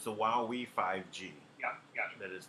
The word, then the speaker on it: Huawei: So it's the Huawei 5G. Yeah, gotcha. That is the. Some people say it's Hui. So however you would like to pronounce.